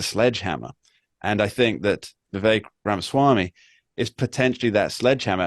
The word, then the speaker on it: Vivek: My electoral math on this, and it might not be accurate, but you made a point earlier, Lisa, that Vivek rhymes with cake and many other words that are less flattering.